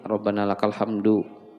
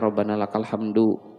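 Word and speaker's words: ربنا لك الحمد: dan cukup inilah Ee Kita bacanya di diwakaf ujungnya orang kita mungkin selama ini Rabbana lakal hamdu ya tidak tidak salah sih tapi secara ee tuntunan bahasa Arab itu kurang tepat kurang pas jadi jangan jangan lagi dibaca Rabbana lakal hamdu Rabbana lakal hamd cara bacanya itu Nah maksudnya yang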